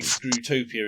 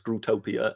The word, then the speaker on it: Scrutopia: careful how you pronounce that, don't you? Yes, it is. It's definitely a UT and not an EW.